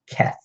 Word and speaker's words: Cath: liner that Rolla fan saves cat ke th cath number nine bet OGG this is just a